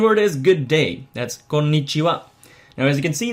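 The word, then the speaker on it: こんにちは: You have to try to lengthen the N's a little bit because there are two N's after each other right there. So you have konnichiwa. Try to pronounce the N sound rather vigorously.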